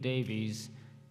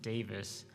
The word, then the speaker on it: Davies: This call to worship is from Dave Davies who pronounces his last name that way. His brother pronounces it Davis.